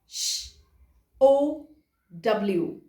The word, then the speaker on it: show: sh, o, w. क्या बनता है? sh, o, w. Show. Because w sounds w, a little sound of w, so it is show.